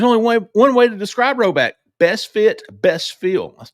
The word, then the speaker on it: Rhoback: That's spelled RHOBACK, Roback, not row forward. That's 20% off all performance polos, shorts, and more with the code Auburn20. Appreciate Roback sponsoring the show.